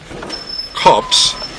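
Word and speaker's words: copse: course if you are familiar with the term cops which is spelled c o PS e if I'm correct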